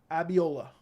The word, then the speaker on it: Abiola: Pronounce it like raviola. Oh, did I misread it? Ravioli. Raviola. Abiola.